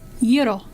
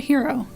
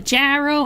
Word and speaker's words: gyro: Yes, by the way, for anyone that doesn't know Greek, it is gyro. But if you cannot pronounce that, I don't expect you to be able to. You can call it a hero. Don't call it a gyro.